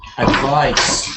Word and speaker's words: advice: The pronunciation is like bike here, like kind, advice.